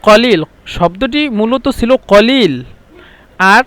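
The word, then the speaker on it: قليل: আর এটা হলো মহিলাদের জন্য, মানে হি তিতকাল্লিম গিলিল। এই গিলিল আমি লিখে দিছি, মানে মিশরেরা কফকে হামজা বলে, আর সৌদিরা কফকে গয়ন বলে, কফকে সবসময় গয়ন উচ্চারণ করে। মানে এই যে কলিল শব্দটি মূলত ছিল কলিল,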